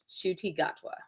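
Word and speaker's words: Ncuti Gatwa: thank you for that it's pronounced shoy shuti gatwa God bless you all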